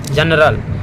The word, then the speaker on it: general: जनरल, जनरल, GENERAL जनरल, इसमें क्या आ रहा है, जो आ रहा है।